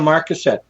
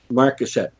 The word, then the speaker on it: Marcasite: Or not your newest book, the one you're writing, but The Haunting of Marcet or how do you say it? The Haunting of Maruset. Uh, the main character Marusette.